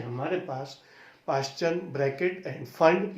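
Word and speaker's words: Pfund: And this series is called फंड series. P silent होता है इसमें।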